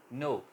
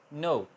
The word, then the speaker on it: know: नो, KNOW, नो। Sound सिर्फ नो की आ रही है, के साइलेंट है।